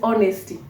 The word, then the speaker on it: honesty: tip another thing is honesty and those who are good in grammar say the Hedge is silent so yes honesty H is silent you don't say how